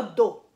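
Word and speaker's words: 銅: Dites pas do. Hein? Do. Avec une intonation basse.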